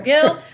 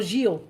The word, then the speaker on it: Gil: pronunciation of your name so i said you know gill i said hill but i think the winner is the brazilian gio yes you yeah definitely